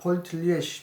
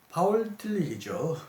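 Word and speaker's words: Paul Tillich: 그런 얘기하면서 여기 이제 문화, 일반 학문 이런 얘기를 하면서 옴게니가 폴 틸리의 문화 신학을 암시한다고 설명해 놓았는데요. 파울 틸리죠. 이제 독일식 발음은 파울 틸리는 흔히 문화 신학자로 알려져 있고 철학적 신학자라고도 알려져 있습니다만 그의 유명한 신학적 방법론이 상관관계의 방법론이다.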